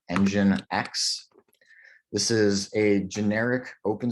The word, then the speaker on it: nginx: So I know this is spelled really strangely. It's pronounced Nginx.